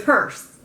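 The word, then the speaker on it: Perse: No, it's Purse. Right. Because Teresa commented yesterday and told me how to say it.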